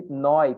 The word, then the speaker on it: neu: E neu também, que significa novo. Essa aqui bem parecido com o inglês. Gente, viu EU é oi. O som é oi.